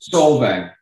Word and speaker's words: Solvang: Is it Solvang or Solving? How do you pronounce that place? Solvang.